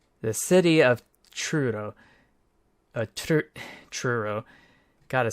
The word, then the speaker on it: Truro: from the UK the city of trudo TR Truro gotta say it right I'm so man I